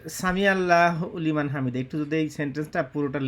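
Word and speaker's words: سمع الله لمن حمده: কারণ বাংলাদেশ থাকতে আমরা আগে বলতাম সামি আল্লাহ হুলিমান হামিদা বলতাম, হুলিমান। কিন্তু আমি পরে যখন পড়তে গেছি তখন দেখি সামি আল্লাহু লিমান হামিদা।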